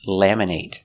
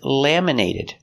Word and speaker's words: laminate: My driver's license is laminated. They laminate your driver's license. Laminate is a verb with a long A sound. Laminate. But what if it's not a verb? Laminate. We make the short it sound.